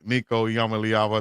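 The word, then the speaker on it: Iamaleava: We got to talk about uh my main man Nicoyama Lyava. I said it right. Lyava. Just say Nico the the the Tennessee former quarterback. You Nico the Tennessee former quarterback. Nico Yamaava.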